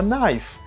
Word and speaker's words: knife: Mademoiselle te gon couteau, she had a knife. Ka pas prononcer dans mot ça, this K is silent.